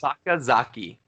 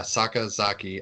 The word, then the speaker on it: Sakazaki: Sakazaki. Yeah, Sakazaki.